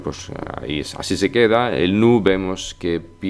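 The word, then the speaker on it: nous: así pero se pronuncia nu la s final no suena y la ou pues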